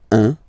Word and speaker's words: un: All right, so when you combine this u and n, you get the nasal sound un, un.